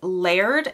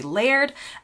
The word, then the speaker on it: laird: And I know in my American accent, this might sound funny. I have spent a lot of time on the internet looking up exactly how to say this correctly, but in my accent, it would be laird.